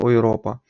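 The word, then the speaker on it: Europa: якихось слів іде також у поєднанні з еу це у нас буде frint ойропа тобто правильно ойропа е тобто буде звук Ой так далі у нас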